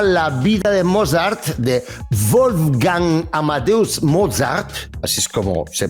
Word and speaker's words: Wolfgang Amadeus Mozart: Amadeus de 1984, que narra la vida de Mozart, de Wolfgang Amadeus Mozart, así es como se pronuncia correctamente su nombre, y que además, pues bueno, a ver, Mozart fue un gran genio de la música.